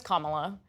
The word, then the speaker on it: Kamala: Her name is Kamala, and this is something that Donald Trump did in 2020 as well. He and his surrogates repeatedly mispronounced her name, and a lot of